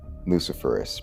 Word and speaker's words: luciferase: And with the word itself, luciferase, because that is the correct pronunciation. Confirm that. Luciferase, like ace.